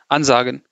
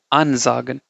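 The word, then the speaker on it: ansagen: You just you don't say it like you know anzagen. No, you say unzagen. Okay. Even if you speak fast, you have to emphasize the unp part.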